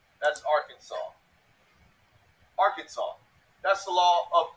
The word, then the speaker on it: Arkansas: and one way only three syllables with the accent on the first and last syllable and a silent S at the end they're having none of